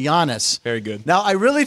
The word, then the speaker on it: Giannis: better from the last say jannis I noticed I pronounced his name correctly Giannis very good now I